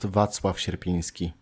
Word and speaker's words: Wacław Sierpiński: I don't know what Ruby just said, but it's pronounced Wacław Sierpiński.